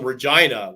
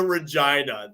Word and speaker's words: Regina: one was come to Regina the city that rhymes with fun no see that though